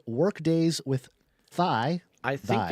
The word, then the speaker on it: Thy: show called Workdays with Thy. I think it's Thy. Right. So Is it it would Thai? be Thy. I think it's pronounced Thai. Yeah, okay.